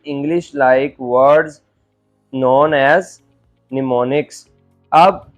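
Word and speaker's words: mnemonics: Like words known as निमोनिक्स। अब वो जो ज़ीरो और वन से इसमें इंग्लिश के वर्ड्स के साथ उनको रिप्लेस कर दिया गया। इट is pronounced as निमोनिक्स।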